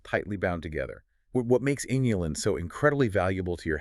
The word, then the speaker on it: inulin: Inulin spelled with an I. Just to be totally clear, not insulin, right?